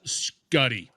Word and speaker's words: Schutte: to phonetically lay it out but it's s-c-h-u-t-t-e pronounced scuddy all right okay for the listeners out there